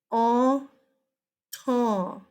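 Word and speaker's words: Entente: this word this word triple all tall is how you say that I know it's ent en te but it is all tall it's French um it means alliance the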